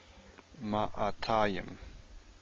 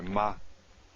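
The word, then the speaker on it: מאתיים: Here we have an aleph. Ma'atayim. Sorry, ma-tayim. Matayim. I first said it wrong. This is actually quiescent aleph. There's no vowel following it.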